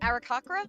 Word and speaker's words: Aarakocra: How do you pronounce it? Aarakocra?